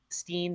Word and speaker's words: Sten: Um, it looks like it's Steen, but I think they kept saying Sten, so Okay.